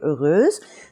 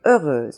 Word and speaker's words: heureuse: I have told you, heureuse. The first listing, they will tell you heureuse. And this is the sound where the EU is pronounced as in heure, as in quelle heure est-il?